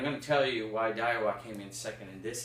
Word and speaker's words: Daiwa: Croix, Daiwa, I believe is how you pronounce their name, and some really, really good and expensive brands. Daiwa is one.